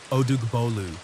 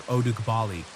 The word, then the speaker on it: Odugbolu: What you're about to hear is a true story from his own region, a quiet, naturally beautiful place called Odugbolu, or Odugbali, as locals pronounce it.